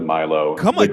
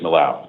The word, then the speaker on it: Malo: I pronounced it Milo. Pronunciation is Malo.